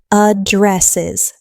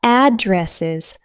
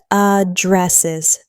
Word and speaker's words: addresses: The pronunciation is addresses. Three syllables with the stress on the second syllable. not addresses, but addresses.